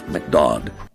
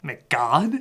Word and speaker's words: McDodd: A man named McDodd. Wait, what? McDodd. Wait, what? McDodd. McGod? McDodd. McGod? McDodd. Whatever, you just call him that to rhyme with odd.